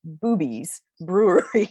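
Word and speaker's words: Bube's Brewery: Uh, and it's spelled B-U-B-E, but it is pronounced Boobies Brewery in Mount Joy, Pennsylvania.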